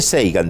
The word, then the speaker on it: Sagan: poco triste la mujer de seigan de Carl sagan el famoso astrónomo norteamericano que murió Joven se escribe sagan no decía yo sé